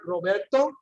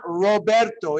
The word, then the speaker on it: Roberto: So many of you have seen the word Roberto. Notice it's not Roberto, it's Roberto. Okay? Even though it's only one R.